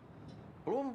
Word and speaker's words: Blum: Bloom like to talk. Yeah, see, he pronounces it Bloom. Everywhere else, they're calling him Blum.